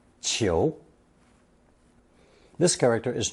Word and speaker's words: 裘: The final result is pronounced second tone chio.